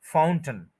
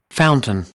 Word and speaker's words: fountain: टन जो टी एन है उसको स्ट्रेस नहीं देना, एनर्जी नहीं देनी है। फाउंटन, ये आप सुन भी लें, फाउंटन। fountain, fountain, fountain, उसके बाद